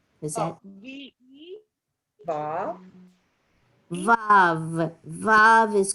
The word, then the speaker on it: Vav: Vav is correct, and I would spell it V-A-V.